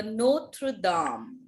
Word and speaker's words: Notre-Dame: second landmark is La Cathédrale de Notre-Dame. La Cathédrale de Notre-Dame. Yes? De Notre Dame. Ma'am, La Cathédrale de Notre Dame. हाँ, de Notre-Dame नहीं है बेटा, de नहीं है, द है.